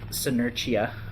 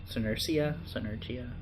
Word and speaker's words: Senerchia: So his opponent, Tasmaniac, aka Peter Senerchia, I believe is how you pronounce it. Senerchia.